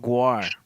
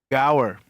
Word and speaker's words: gaur: I put You I put Guar. I put Gwar. What is it? Gour. Yeah, how you spell it? Gaur. Yeah, Gaur.